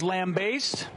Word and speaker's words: lambaste: pronounce this word lambaste she says lambaste she is correct she got lamb waist I would not have got I would have said lambaste I think everyone else